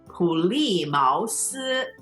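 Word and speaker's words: 普利茅斯: We translate the word Plymouth, which is 普利茅斯. 普利茅斯. So third tone, fourth tone, second tone, first tone.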